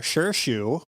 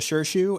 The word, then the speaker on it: Shirshu: And they've seen June use her sure shoe, which I've got to shout out Netflix for your awful captions.